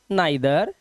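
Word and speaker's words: neither: कुछ शब्दों में इ आई का उच्चारण ए या आई होता है। जैसे यहां पर देखिए इसे पढ़ते हैं laser hey फॉर एंड इनविगल बट यहां पर इसे पढ़ते हैं आई आइदर नाइदर and psychic.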